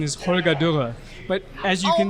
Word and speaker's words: Holger Durre: So it's a good question because it's German. So Okay. the way that I pronounce it here is Holger Durre.